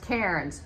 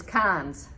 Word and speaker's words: Cairns: And you look at the city of Cairns, you think it's pronounced Cairns. Nope, it's Cairns.